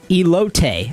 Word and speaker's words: elote: So, apparently it's pronounced elote.